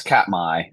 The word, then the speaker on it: Katmai: in Alaska, and I'm going to let you pronounce it for me. Yeah, it's Katmai.